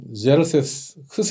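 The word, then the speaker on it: Xerxes: 영어로 하면은 제르세스, 크세스라고 발음하기도 하는데요.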